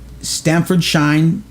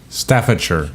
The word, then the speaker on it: Staffordshire: does in the Ukraine Trey t and American Stanford shine Staffordshire Steph no Steph oh yeah you're right Staffordshire